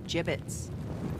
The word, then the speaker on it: gibbets: here dead end hey look mayberry had some gibbots left over gibbets what it's pronounced gibbets are you sure yeah well no one likes